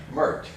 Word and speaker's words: Mert: Mert. Rhymes with dirt.